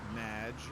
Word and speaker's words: Madge: have mispronounced my name it's madge which rhymes with badge uh as in and